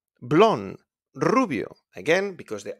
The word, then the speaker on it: rubio: Rubio. Blonde. Rubio.